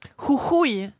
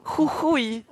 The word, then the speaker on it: Jujuy: Jujuy. Comment? Jujuy. Je suis sûre que vous n'arriverez jamais à prononcer ça.